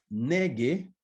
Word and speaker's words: Nege: Yurume, dice esa canción, Yurume, Nege, N-E-G-E, Wagairabe.